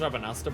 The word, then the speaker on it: Rabanastre: But hey, specifically Rabanastre. It's pronounced Rabanasta, by the way.